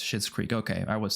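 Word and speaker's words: Schitt's Creek: do thank you so much so it is pronounced shit's creek okay I was saying it right for twister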